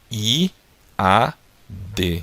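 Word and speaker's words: יד: Então fica I, A, D. Então fica pronunciando melhor Iad, tá?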